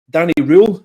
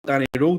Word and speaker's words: Röhl: Whether he's the right man for the job, we'll never know, but Danny Röhl is what to pronounce it, not Danny Röhl.